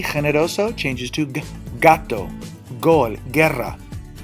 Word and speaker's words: generoso: A GE and a GI. Generoso. Jinete. Notice my pronunciation of the G?